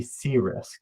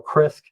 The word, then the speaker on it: CRISC: portfolio, and that is the C-Risk, right? Or CRISC, really how you pronounce it is up to you.